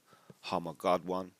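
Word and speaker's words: Har-Magedon: And again, you know, the pronunciation would be harm of Godwan.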